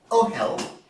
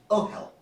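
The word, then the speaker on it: אהל: But in oh hell, it's not a silent letter, because you just heard me say at the beginning, oh hell, right? Tent. There, it's got a vowel, oh.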